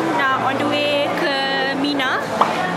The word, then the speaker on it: 3INA: So sekarang dah on the way ke Mina. Dia ejaan dia E, bukan E, 3-I-N-A. Tapi sebutan ni bukan Trina, actually Mina.